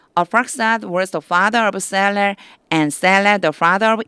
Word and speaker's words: Selah: And Selah 실라라고 읽어주셔야 돼요. 실라. Arphaxad was the father of Silla, and Silla the father of Eber.